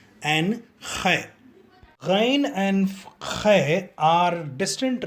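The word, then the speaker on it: خاء: I am sure everybody knows how to gargle. We will do the same exercise when pronouncing Khe. Let us practice gargling. With this, we will have to add the sound of K. Then it will become Khe, Khe, Khe.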